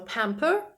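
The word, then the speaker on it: pamper: сама назва також перекладається це дієслово читається на пемпер і це балувати тішити Ось так цікаво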